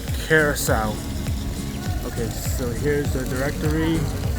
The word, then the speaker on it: Curaçao: It's called Carousel. Okay, so here's the directory. You can pause it if you guys want to see it, but I'm going to keep on walking. Entering the dungeon. Carousel.